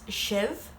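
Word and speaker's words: sibh: You all is shiv, and they is shade. I, you, he, she, we, you all, and they. And then that's may, tu, she, she, shin, shiv, shade.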